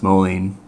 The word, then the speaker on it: Moline: I know it's pronounced Moline.